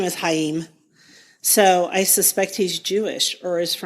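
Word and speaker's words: Chaim: po I know but the first name is hayim so so I suspect he's Jewish or is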